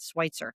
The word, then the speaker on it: Switzer: So even though Travis Switzer, and that's how you pronounce that, Switzer, even though he's coming